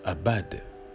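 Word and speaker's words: עבד: hier que servir avec le mot hébreu ce qu'ils se prononcent abad signifiait tout simplement être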